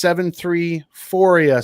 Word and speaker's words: 734ia: So like Euphoria, but 73. Perfect.